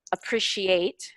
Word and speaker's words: appreciate: The stress on a different part of the syllable. So I just wanted you to hear annual, appreciate, history, governor, contributed, where the stress goes on those words.